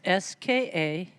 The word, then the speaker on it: Skamokawa: So Skamokawa, for those, how do you spell it? This is an evil word. Yes, it's Skamokawa.